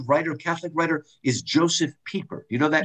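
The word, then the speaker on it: Pieper: a really good writer catholic writer is joseph peeper you know that name yeah not piper's pronounced people leisure as the basis of culture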